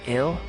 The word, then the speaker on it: IL: Fortress you're calling it ill pronounced exactly the same same as the English word ill meaning sick or dying makes you think of